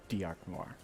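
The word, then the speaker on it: D'Arc Noir: It's like D apostrophe arc, like dark, and then noir, like Noir. So dark noir. Yeah, but pronounce it Diarc Noir.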